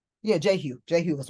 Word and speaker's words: Jehu: Am I pronouncing that right? I think it's, yeah, Jehu.